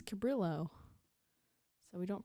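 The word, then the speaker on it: Cabrillo: he teamed up with the coordinator of the capro Maritime Museum very good here I looking up according to online pronunciation Lady it's cabillo so we don't pronounce it I was wrong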